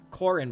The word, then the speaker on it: Corhin: Corin, but the H is silent.